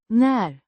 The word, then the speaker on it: när: När means when, pronounced när with a short a sounds similar to the a in cat and a rising intonation.